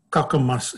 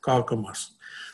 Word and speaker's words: Kakamas: not the saudi uh saying kakamas and not kalkamas so be that as